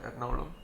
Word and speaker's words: Ernakulam: Ernakulam, it is spelled as, but it's called Ernakulam.